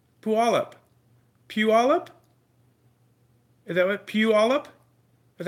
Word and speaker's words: Puyallup: Puyallup, Taz checking in.